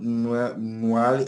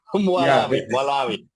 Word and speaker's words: Malawi: Mwali, I can't pronounce this. But the actual, Malawi. yeah, Malawi. That is a hard word